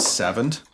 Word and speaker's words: savant: Jared, it's pronounced savant. Savant? Savant! You pronounce it Savant?